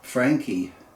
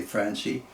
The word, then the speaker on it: Franchi: Getting back to the Benelli, which is actually marketed under the Franchi name, or some people say Franchi, and I respect whatever you choose to pronounce.